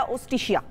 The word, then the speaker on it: Justitia: इसकी प्रोनाउंसिएशन क्या होगी, तो उन्होंने बताया ओस्टिशिया। तो ओस्टिशिया, ऑस्ट्रिया की जो लैंग्वेज है उसमें जे साइलेंट होता है।